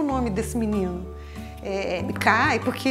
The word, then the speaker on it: MGKAI: Eu pronuncio Mikai, tá certo? Não, não tem uma coisa que seja uma única coisa certa.